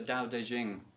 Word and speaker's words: Dao De Jing: sounded down to the daodejing for over two and a half thousand years Dao de Jing I understand that's how you pronounce it any sign ologists here